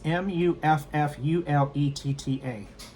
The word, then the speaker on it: muffuletta: Alexa, how do you pronounce m u f f u l e t t a?